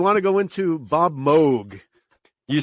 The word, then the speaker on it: Moog: and he was saying in holland they pronounced it mock he said in germany it's quite common they refer to it as moog he said but in